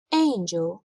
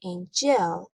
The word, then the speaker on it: angel: The first syllable, ain, is the stressed syllable. We say angel. We never say angel. So angel is wrong.